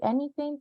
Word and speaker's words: anything: When you see anything, TH, you pronounce it like una Z en español.